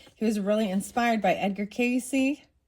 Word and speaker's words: Edgar Cayce: was really inspired by Edgar Cayce. I think that's how you say it. It might just be Edgar Cayce, but I think it's Casey.